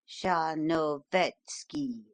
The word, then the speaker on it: Tcharnovetski: It is oddly spelled, but it is pronounced a little broader than you give it, quite as though it were written Tcharnovetski, in fact, with the accent on the third syllable.